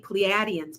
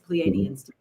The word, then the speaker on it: Pleiadians: Well, I was saying Pleiadians, because some people do say that, but it's Pleiadians.